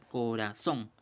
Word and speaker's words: corazón: Corazón. Bien, la mayor fuerza de voz, la mayor pronunciación es en la sílaba son.